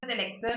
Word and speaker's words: elixir: So it answers elixir also and elixir also. Both are correct. Both pronunciations are fine.